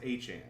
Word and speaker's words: Achane: Devon Achane. And his name is pronounced Achane.